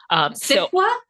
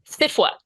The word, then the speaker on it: SFWA: SFWA? SFWA, yes.